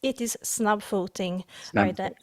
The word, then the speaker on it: Snabbfoting: And that is when you decided to start Snabbfoting, how do you pronounce it? The name of my company today, we are a small team. It's Snabbfoting.